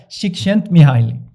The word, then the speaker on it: Csikszentmihalyi: Csikszentmihalyi.